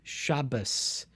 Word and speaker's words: Shabbat: uh bris so um some orthodox jews would refer to shabbat the sabbath as shabbas with an s at the end and these are